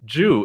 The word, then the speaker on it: Jue: is none other than dhama Jew is how you say your last name right yep because we related on